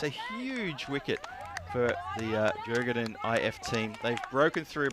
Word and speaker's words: Djurgården: That's called Djurgården, and that's how the tourist guide pronounced it. And she was Swedish, so I'll run with that.